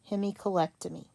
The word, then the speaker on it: hemicolectomy: to learn that and here's the pronunciation Hemi Co leg toe me hemicolectomy and then if I